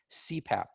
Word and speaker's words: CPAP: new one we use cpap so c path is pronounced like c pap right it stands for